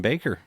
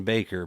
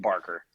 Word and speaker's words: Baker: It's a lot of venues and even baseball announcers when I was in high school, they love to call me Barker.